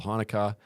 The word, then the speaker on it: Hanukkah: thing i know about hanukkah is it reminds me or it rhymes with harmonica and adam sandler saying